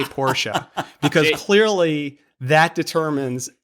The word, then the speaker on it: Porsche: I'm going to find one of those T-shirts from the '80s that said Porsche is a 2-syllable word.